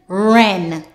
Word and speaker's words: wren: WR WR word family the W is silent therefore you will say R let's go R app rrap r a rapper R angle rangle r a ra r a rra r n Ren r e w r